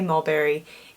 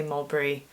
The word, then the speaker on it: Mulberry: Americans say Malberry. English people say Malbury.